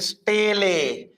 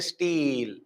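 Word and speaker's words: stele: is called steel or better to pronounce it is staley but we say like steel steeler system it is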